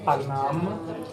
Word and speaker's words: Paname: You could try Panam. It's spelled Paname.